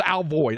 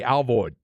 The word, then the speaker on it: Alvord: void I'm telling you the old-timers say Al void up there but there's no I in that so I would split the difference and and pronounce the I like an a Alvord just so that when